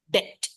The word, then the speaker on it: debt: depth of to his eyeballs d t b is silent debt d t debt debt up yeah yeah debt